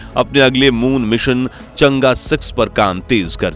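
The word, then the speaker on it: 嫦娥: चांद की देवी तो भले ही कुछ लोग इस प्रोग्राम को चंगी या चांगी कहकर पुकारते हो लेकिन असल में इसका उच्चारण होता है चंगा खैर पिछले 20 सालों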